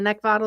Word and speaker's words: Neckvatal: It's pronounced Neckvatal, like bottle.